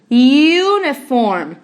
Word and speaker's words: uniform: Tem algumas palavras igual essa uniform. Você pronuncia ele igual com o zinho, university também pronuncia ele com o zinho.